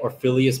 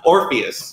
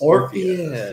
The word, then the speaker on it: Orpheus: You combine what it's actually called with Ophelia. There's no Ophelia in it. The first syllable is right, though. Odious. I don't know. Odious means smelly. Orpheus. Orpheus. Yeah.